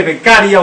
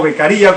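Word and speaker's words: Beccaria: bacena el Marqués de becaria o beccaría como lo pronuncian otros que ahí establecía que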